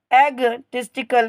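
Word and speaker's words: egotistical: word है आपका इगा यहां पे आपका जो ओ वर्ड है ये आपका साइलेंट रहेगा इसको पढ़ेंगे एग एग टिस्ट कल क्या पढ़ेंगे एग टिस्ट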